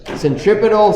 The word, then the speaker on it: centripetal: it's towards the center centripetal sounds like the word Center at all spots on this